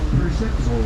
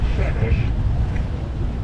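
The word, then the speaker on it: Przemyśl: It's called Przemysl Island. Przemysl Island was named after a city in eastern Poland. In Polish, I gather they pronounce it Shemish.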